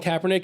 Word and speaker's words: Kaepernick: oh just as trash there's only one difference is that how you pronounce it yeah it's kaepernick i actually funny enough